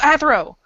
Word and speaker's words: Athro: It rhymes with this. Oh, Athro! It's Athro. Yes.